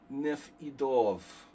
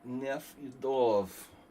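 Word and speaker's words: Nefedov: It's pronounced Nef Idov. Emphasis on the E. Nef Idov. First, you emphasize the E. Dr. Nef Idov.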